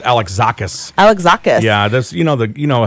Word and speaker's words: Alexakis: I think that's pronounced Alexakis. Alexakis.